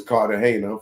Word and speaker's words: Cartagena: And the defendant is Joseph Cartagena or Cartagena, as some of y'all may pronounce it. I know it is Cartagena from going to Colombia, for y'all that never crossed over the water into Colombia.